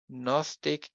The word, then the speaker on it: Gnostic: So these words are pronounced in English as psychology, Gnostic, and mnemonic, whereas in German, we pronounce them as Psychologie, Gnostisch, and mnemonisch, right?